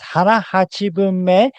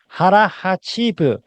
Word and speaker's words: hara hachibunme: And the correct way to say this is hara hachibunme, not hara hachibu. I hear many people saying this hara hachibu, which is not a mistake.